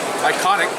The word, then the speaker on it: Eikonic: Iconic is spelled E-I-K-O-N-I-C.